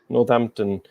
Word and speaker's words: Northampton: Northampton. It's like the H is silent.